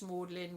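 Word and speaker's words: Magdalen: lot like the uh the college morling which is spelled different spell magdalin but mlin as inside and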